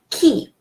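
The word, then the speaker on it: qui: the pronunciation rules key why do I pronounce it key because the rule of pronunciation says that after cue in French after cue we always have a silent you and that's the reason that why that you is not pronounced is not like in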